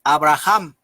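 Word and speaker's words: אברהם: si se le prometió a abraham que que en hebreo su nombre se pronuncia avraham y también se le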